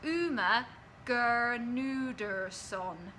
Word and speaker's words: Gernudson: Firstly, the G in my surname is not silent, just so you don't get it wrong the whole time. My name is pronounced Uma Gernudson.